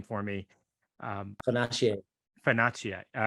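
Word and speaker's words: Fonacier: stand out is Nanny Chai, and you can pronounce her last name for me. Fanache.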